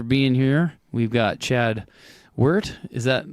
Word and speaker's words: Weidert: Weidert's how you say it, unless you're from Germany, which is Weidert, but yeah.